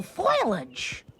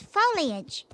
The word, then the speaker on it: foliage: Just look at all this beautiful foilage. It's not foilage, Mom. It's foliage. Foliage.